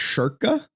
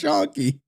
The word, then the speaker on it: Schoenke: I guess he used to say his name his last name was pronounced sherka like Aaron Sherka and everyone was like wait what? It's Shony.